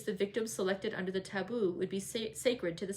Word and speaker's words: tabu: places till the taboo tabu pronounced taboo means prohibition we have